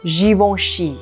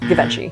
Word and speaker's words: Givenchy: And then the CH, like we said before, is like sh, similar to Chanel. So Givenchy, Givenchy. Most English-speaking people just call it Givenchy.